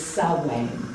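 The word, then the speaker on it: Samhain: there is another name it's spelled s-a-m-h-a-i-n and that's a welsh word and like all welsh words it does not pronounce the way it spells it's salwain okay so salwain is that midpoint between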